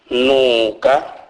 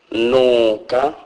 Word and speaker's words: nuka: N is pronounced as in the English word nine, e.g. nuka, nuka, which means smell.